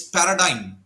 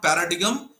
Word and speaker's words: paradigm: r a d i g m so it's Paradigm the pronunciation is not Paradigm it's Paradigm all right what does it mean